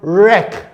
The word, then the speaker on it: wreck: It is important for us to know that whenever our letter W follows the letter R, the sound wa will not be pronounced. For example, look at this word here. It's pronounced as what? Ref. We have the word wreck.